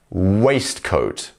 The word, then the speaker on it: waistcoat: Waistcoat. And once again, the first syllable is our stressed syllable.